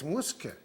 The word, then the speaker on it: Mushke: It's not Mushke, it's Muske, because her name is Musya, and when you call her when she was a child, probably she was a Muske.